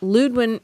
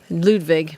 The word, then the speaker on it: Ludwig: have some and there was never enough composer ludwin ludwin ben beethoven ludwig yeah i said it wrong complained of a